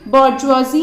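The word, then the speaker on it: bourgeoisie: Conflict exist करती है between बॉर्जुआजी and proletariat. तो इन दोनों वर्ड्स को कुछ इस तरीके से ही प्रोनाउंस किया जाता है। बट अभी होते क्या है, बॉर्जुआजी प्रोलेटेरिएट, तो जो हमने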